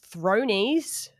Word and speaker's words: Thronies: Apparently Game of Thrones fans call themselves Thronies, which... That's weird. which rhymes with bronies, which is the...